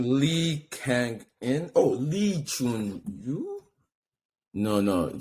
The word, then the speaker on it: Lee Kang-in: Okay, they were definitely not pronouncing his name like that. Because look, that's how his name is written on his jersey. I noticed that. But the guys, they were pronouncing it Kangin Lee. That's how they were saying it. Kangin Lee. Oh, because surname before.